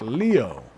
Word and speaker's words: Leo: It's written with the kanji for lion to be sure, but it's pronounced Leo.